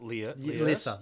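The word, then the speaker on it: Lierse: So was it Lissa? Yeah, Lissa. That's how you pronounce it.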